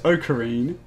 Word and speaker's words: Okarin: I know how to pronounce it. Faku Ofu Virgin Kun. I've heard it in both translations, in the sub and the dub. It's Okarin.